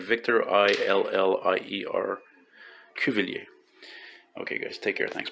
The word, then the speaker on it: Cuvillier: I'm at 1616 Cuvillier in the Hochelaga sector of the city. Cuvillier is spelled C-U-V like Victor, I-L-L-I-E-R, Cuvillier.